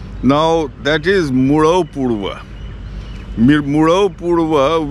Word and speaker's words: Murau Purwa: Murau Purwa, which the Buddhists have mispronounced as Migaramatupasada or something like that.